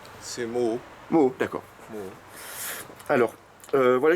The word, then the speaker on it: Moho: Oui, voilà, du coup, je te demandais, au niveau de la prononciation, c'est Moho ou Moro? C'est Moho.